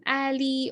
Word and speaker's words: a11y: this but uh basically the um 11 in the middle just represents the letters uh in between a and y so whenever you see this vibration just pronounce it as accessibility as well so um if you're